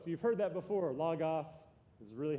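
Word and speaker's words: λόγος: a lot so get used to that it's logos you've heard that before Lagos is really how it should be pronounced logos the word what they have translated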